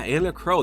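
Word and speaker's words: Enna Kros: Yeah, Anna Crow. That's actually how you pronounce that.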